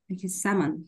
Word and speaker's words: salmon: yeah ex yeah but by the way the L is silent salmon okay and salmon and